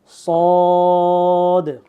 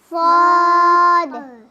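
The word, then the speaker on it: ص: আসবে ঠিক আছে সদ সদ সদের উচ্চারণটা অনেকটা সিনের মতই কিন্তু সদের উচ্চারণটা এটার সিফাত ভিন্ন।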